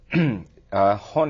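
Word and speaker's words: honne: And there are two terms that you use, and you're going to have to correct my pronunciation. Tateme? Tatemai. Tatemai and hone?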